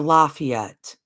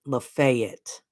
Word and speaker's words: Lafayette: Oh, Lafayette or Lafayette. In the South, they pronounce it Lafayette. Lafayette, everybody. It's Lafayette in the South. In the North, it's Lafayette. Just so y'all know, Big